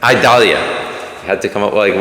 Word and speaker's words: Idalia: Hurricane what? Idalis, or something like that. Whatever. How do you pronounce it? Idalia.